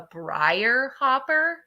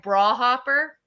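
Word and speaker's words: briar hopper: apparently I mispronounced it I think it's called a Brier Hopper but with a Middletown accent it sounds like bra Hopper so I thought growing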